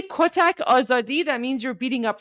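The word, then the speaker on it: آزادی: But yeah, oadi. That's your word for tonight. Oadi.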